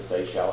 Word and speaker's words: Seychelles: named the count to say shell. Then later the British uh changed the islands just to the British spelling and pronunciation of the Sey Shell Islands.